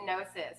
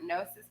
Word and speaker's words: gnosis: And it's spelled Gnosis, gnosis, right?